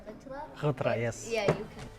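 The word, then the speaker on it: غترة: Yes, that's gufra. I don't know how to pronounce it. It's actually a ghitra.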